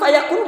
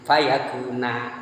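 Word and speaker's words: فَيَكُونَ: Di sebagian qiraah bukan fayakun, bukan gitu bacanya. Fa in wa idza qada amran fa inna ma yaqulu lahu kun fayakuna.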